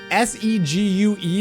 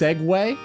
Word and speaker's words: segue: You're saying s e gue is pronounced segue.